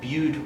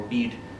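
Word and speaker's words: Bede: as well as the story of be or bead however you wish to pronounce it you probably use both interchangeably.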